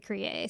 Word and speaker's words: Kriye: His name is Kriye. Yeah, sounds Um, about right. yeah, I was listening to how they pronounce it, and every time they say Kriye, so.